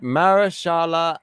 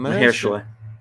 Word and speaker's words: Mahershala: All right, Marashala Ali. Okay, in MCU Vampire Adventure Blade. No, is it how do you spell it? Mahershala.